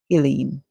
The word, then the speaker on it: Helene: However, if they're referring to this hurricane, then it would be wise for them to pronounce it in the manner that the hurricane is pronounced as, which is Helene.